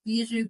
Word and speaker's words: Bijoux: Book of Biju. Bishu is spelled B I J O U X. It's French for jewelry.